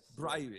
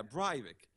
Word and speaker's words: Breivik: I don't even know how to pronounce his name. Anders Behring Breivik, yes. Breivik, yeah, Breivik.